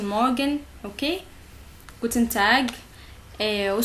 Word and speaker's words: Morgen: Ici, c'est pas R de français. Guten Morgen. C'est Guten Morgen, ok?